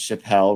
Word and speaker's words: Chappell: It's pronounced Chappelle, right? Even though it's sort of spelled more like chapel.